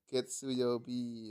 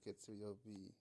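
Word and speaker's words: 月曜日: Getsuyobi. Ya, betul Getsuyobi. Lanjut nomor 12. Ini cara bacanya apa ini?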